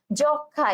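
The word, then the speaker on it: যক্ষ্মা: যক্ষা, একইভাবে কিন্তু এই ম ফলা উচ্চারণ হবে না, ঠিক আছে?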